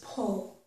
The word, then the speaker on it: pull: And some people do, and again, in different regions of the country, do pronounce this word with more of a schwa sound. But for me, it's pull, okay?